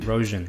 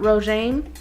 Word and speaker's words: Rogen: Rogen. Not Rogaine.